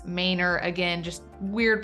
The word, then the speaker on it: Manor: One would think that it should be referred to as Manor due to the spelling, but locals call this Manor.